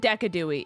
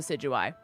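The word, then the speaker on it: Decidueye: Uh so Vandy calls it decadooi. It is 100% like called the sigui.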